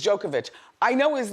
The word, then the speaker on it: Djokovic: Yeah, I don't want to say it wrong. His name is Djokovic.